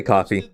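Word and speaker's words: Ko-fi: that Kane posted to his coffee account or Kofi, however you pronounce it. I say coffee.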